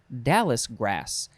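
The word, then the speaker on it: dallis grass: it is dallas grass dallas grass dallas is spelled capital d a l l i s not dallas the city in texas dallas in texas this is dallas the grass noun from 1907 a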